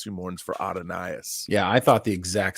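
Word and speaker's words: Adonais: Adonis but it's not it's who Mourns for adonaius yeah I thought the exact same thing actually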